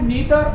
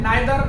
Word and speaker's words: neither: भी कहा जाता है, लेकिन ईदर अमेरिकन प्रोनाउंसिएशन है, नीदर अमेरिकन प्रोनाउंसिएशन है और आइदर ये ब्रिटिश प्रोनाउंसिएशन है, नाइदर ब्रिटिश प्रोनाउंसिएशन है।